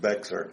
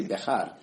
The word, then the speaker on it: Bexar: So for those of you outside of Texas, it's often pronounced Bexar. Yes, that's right. It's really supposed to be Bexar if you do it properly.